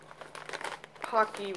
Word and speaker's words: Paqui: All right, here I go trying these Paqui because Paqui rhymes with hockey.